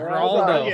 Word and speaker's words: Geraldo: Yeah, Geraldo.